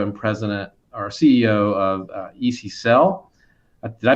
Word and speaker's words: EcSell: He's the CEO and president, or CEO of EcSell. Did I pronounce that right, Bill? EcSell.